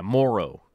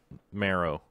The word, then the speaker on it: Morrow: But yeah, Morrow. Yes, not Marrow.